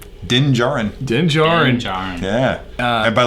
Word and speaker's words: Din Djarin: It's Din Djarin. Din Djarin. Yeah. And by the way, I tried to spell that thing 3 times before I got it right.